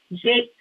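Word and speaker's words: Jacques: culture of the time Amy Jac gby preferred even to be referred to as Amy Jake garby so you'll hear all kinds of pronunciations but from people who knew her personally the consensus is that she embraced the version of Jake Darby okay so bear with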